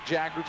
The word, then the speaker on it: Jaggers: And he said, uh, just like MC Jaggers is how you pronounce it.